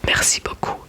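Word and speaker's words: merci beaucoup: And um here too you don't pronounce the B because it is the last letter of the word. Mercy poku.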